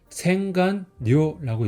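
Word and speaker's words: 洗顔料: 그래서 일본어로 읽으면 생간료라고 읽어요.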